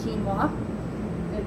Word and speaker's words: quinoa: set of crops is quinoa you know it looks different than how it's pronounced ours is nothing so